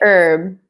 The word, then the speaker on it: herb: pronounce the H but in the u.s. we don't pronounce the H for this words because for me herb